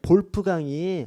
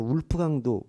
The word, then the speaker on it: 볼프강: 사퍼 쉐이퍼 하고 그다음에 볼프강이 아까 제 말씀드이 독일어로를 왜 발음 하거든요 그래서 볼 볼프강을 영어로 하면 울프강이라고도 해요 그래서 영어식으로 표현하면 울프 강도 볼프 강이랑 똑같은 말입니다 그래서 어 티크 헨티 똑같고